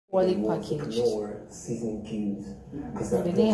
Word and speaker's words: Knorr: people around me, that the pronunciation of Knorr is Knorr. It's Knorr.